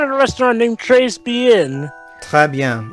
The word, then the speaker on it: très bien: Très bien. It's pronounced très bien.